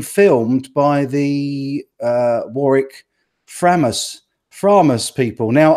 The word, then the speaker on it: Framus: by the Warwick Framus promise people now I've been saying frame us all this time and somebody corrected me the other day apparently the Germans pronounced its promise is that right promise